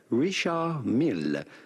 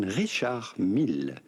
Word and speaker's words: Richard Mille: Do not pronounce the D to Richard.